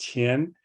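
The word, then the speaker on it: 天: years as we see on the left side pronounced Tien is this more pictorial form on the right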